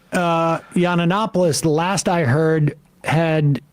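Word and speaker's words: Yiannopoulos: Tim P so yeah Sam says yannopoulos he adds an extra uh an extra syllable um uh very no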